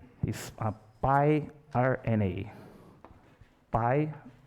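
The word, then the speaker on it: piRNA: you know i think the pronunciation in english is pi rna is a pi rna pi r n a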